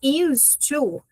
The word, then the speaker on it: used to: Então, começando com used to, pegando na pronúncia primeiro, repara que esse D, ele meio que some no meio desse T.